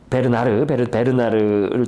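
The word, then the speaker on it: Bernhardt: 그래서 조르드 상드, 그 다음에 코로, 도미에, 사라 베르나르트. 이게 베르나르라고 발음이, 이게 베르나르트라면 좀 너무 틀리고요. 그냥 베르나르 정도.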